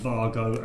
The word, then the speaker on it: Wago: do you want to explain why it is uh vargo and not way go because this michael lane